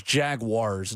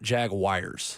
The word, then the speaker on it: Jaguars: I feel like I need to remind people that it is Jaguars, not Jaguars.